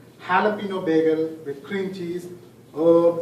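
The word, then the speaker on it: jalapeño: and gave the order Jalapeno bagel with cream cheese after a lot of prompting my wife told me that I saw the pronunciation it should be Jalapeno bagel with cream cheese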